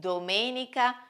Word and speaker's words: domenica: The first five days are truncated words, that is, they have the accent on the last syllable: sabato and domenica are instead proparoxytone words: it means that they have the accent on the third to last syllable.